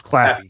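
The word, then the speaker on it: Claffey: Cl It's Clafy. Oh, Claffy.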